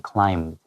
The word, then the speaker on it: climb: You just think you have to make a hard B sound. 对， Yeah. 所以像这种特殊的读音，我们可以在 B 底下画一个小叉叉，提醒自己说，发音的时候这个 B 不发音， Yeah. When you add the ED, 有一点点 climb, 很 Like that.